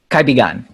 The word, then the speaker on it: Kaibigan: Talk to me a little bit about what you're doing now with, it's pronounced Kaibigan Connection? Kaibigan.